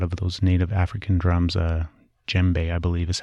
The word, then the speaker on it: djembe: A lot of those native African drums, djembe, I believe is how you pronounce the type of drum that he uses mainly.